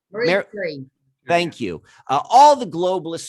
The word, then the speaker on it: Marie Curie: How do I pronounce her name? Marie Curie.